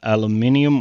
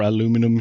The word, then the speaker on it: aluminium: logistics they use Alat aluminium or aluminum sheets depending on where you're at you pronounce it differently and then something to